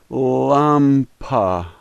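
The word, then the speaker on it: лампа: like our a and so this word is lumpa Lumpa Lumpa the first letter is P pronounced like our P the second letter is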